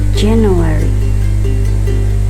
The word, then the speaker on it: January: Januari bahasa Inggrisnya dibacanya adalah January. Nah, dan ini dibaca J. Jadi January.